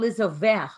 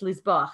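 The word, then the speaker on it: לזבוח: Minayin lizovech. Okay, it's lizbach. I said it wrong.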